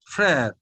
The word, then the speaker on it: frère: Frère.